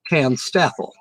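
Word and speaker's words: TANSTAAFL: You can pronounce it Tan Steffel. That's how I've always pronounced it since I've seen it.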